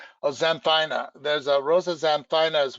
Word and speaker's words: xanthina: rose that had the red spines called Rosa Xanthema? Oh, xanthina.